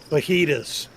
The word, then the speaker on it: fajitas: Did you say fajitas? Fajitas. It's pronounced fajitas.